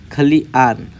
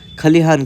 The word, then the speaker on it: खलिहान: से लिखा जाता है तीसरा है खली आन खलियान ऐसा खलिहान को खली आन ऐसा लिखा नहीं जाता तो उसका सही उच्चारण और लिखावट है खली हान चौथा है कारण वश